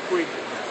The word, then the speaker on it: Puig: Manny Puig.